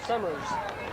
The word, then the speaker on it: Summers: suers on the stop that's pronounced sers s o m m e r suers Summers it's Jay Summers uh fathers summers oh